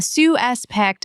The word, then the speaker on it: suspect: The police, S-U-S-P-E-T, The man is the verb, stress on the second syllable. But the man is a suspect is the noun, stress on the first syllable.